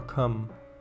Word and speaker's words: combe: Usually pronounced coombe or cum.